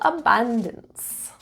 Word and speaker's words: abundance: Stress is in the second syllable. Abundance.